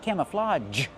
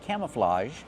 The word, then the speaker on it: camouflage: we pronounce camouflage camouflage use the open ass sound like ham and maam cam plus a short uh sound cam relaxed camouflage and the open a like hot and stop camouflage let's talk about that last consonant camouflage not camouflage but the softer sound camouflage like in measure and treasure these are camouflage pants